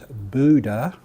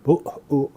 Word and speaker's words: Buddha: is often mispronounced as Buddha or Buddhism. Here we've got a case of the short U being mispronounced as a long U. So it's actually not Buddha, nor is it Buddhism, it's Buddhism. Buddha, the Buddha, Buddhism.